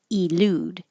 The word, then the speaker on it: elude: So some people will say elude. Elusive. But because the e is not stressed, it can change to uh or i.